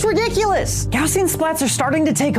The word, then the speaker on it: Gaussian: And yes, it's pronounced Gaussian, not Gaugen.